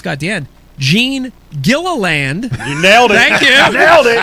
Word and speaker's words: Gilliland: to put this guy at the end, Gene Gilliland. You nailed it. Thank you. You nailed it. I had to break out the syllables on my notes.